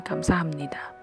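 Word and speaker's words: 감사합니다: banget pasti Hai Kamsahamnida tulisannya itu KM sahabtnya Ida Tapi bacanya Kamsahamnida kemudian ada ship Man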